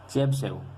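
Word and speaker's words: Chebyshev: Method और चौथा है, इसका क्या प्रोनाउंसिएशन होगा, चेबशेव। ठीक है, चेबशेव, इसका प्रोनाउंसिएशन होगा चेबशेव मेथड।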